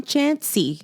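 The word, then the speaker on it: Chaney: I can tell you Thomas Clancy yeah Tom chansy oh chansy yeah um and so she's having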